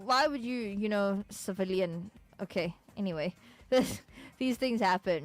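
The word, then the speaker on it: Cviiilyn: i i i l y n and it's pronounced civilian right and I I I can't understand I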